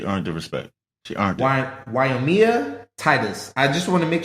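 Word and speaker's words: Wyomia Tyus: more time she earned the respect she earned wyomia Titus I just want to make sure it may not be pronouncing it right guys but her name is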